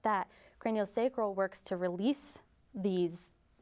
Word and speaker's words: craniosacral: Craniosacral therapy is a hands-on approach that works on our connective tissue.